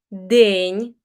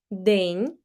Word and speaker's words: день: Here, if you learned Russian previously, you need to be attentive with pronunciation of the letters E, those that look like Russian ye, день, it's hard pronunciation, день, вечір, вечір, and Ukrainian ch is hard, ніч, ніч, not ch, but ch, ніч.